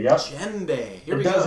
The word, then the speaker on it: djembe: Djembe. Yep. Djembe. Here we it go. does have a D at the beginning. Djembe. That's the D is silent.